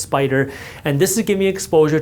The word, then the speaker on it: SPDR: So, for example, SPY, this is created by a company called Spider. SPDR is pronounced Spider.